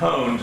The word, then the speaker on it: pwned: That's why you know it's pronounced pwned, not pawned.